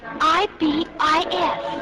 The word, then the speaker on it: ibis: It's I-B-I-S.